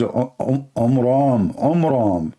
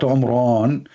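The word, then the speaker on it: Amram: So it's the father of Moses, his name is Omram. not Umran.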